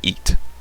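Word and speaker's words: へ: So he pronounced e when used as particle direction marker shows direction of movement.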